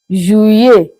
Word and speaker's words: juillet: Actually, we should have started with that, but double S as if we are pronouncing Y, letter Y. Juillet.